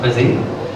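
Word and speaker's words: Busii: So I work for a company called Busy, spelled B-U-S-I-I, pronounced Busy, and we've been doing the testing for a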